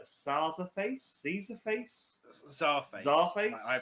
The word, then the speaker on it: Czarface: face sees a face sorry face I pronounce it as yeah so like a Russian Czar and face at the end of it and uh the song